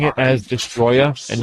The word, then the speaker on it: Destoroyah: And that's because that's the English version of the name.